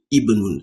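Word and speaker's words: ابن: So, for example, if this word, this particular word, Ibnun, was standing alone without this one, without the hazard, if this was just standing alone, you will have, pronounce it, you say Ibnun. So the E is coming from it, Ibnun.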